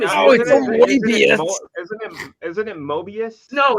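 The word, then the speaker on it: Moebius: name is John Gerard his pen name is muus it's French are you sure are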